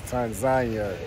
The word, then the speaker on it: Tanzania: It's like tomato, tomato, but I think the proper way to say it is Tanzania.